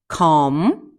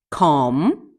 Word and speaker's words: calm: За өнөөдрийнхээ хичээлээр бүгдээрээ L, silent L буюу дуудагддаггүй L үсэгтэй үгнүүдийг уншиж сурах гэж байна. Okay, let's get started. Bomb, bomb, calf, calf, calm, calm, chalk, chalk, could, fork, fork, half, palm, salmon, should, talk, walk.